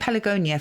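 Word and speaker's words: Pelargonia: And there was a law in ancient Greece that was known as the Pelagonia or I think Pelagonia for the hard G this time.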